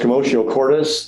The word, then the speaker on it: commotio cordis: So at the top of the screen is a term pronounced commotio cordis.